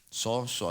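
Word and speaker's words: σώζω: En el viego, así se escribe, soso, así se pronuncia.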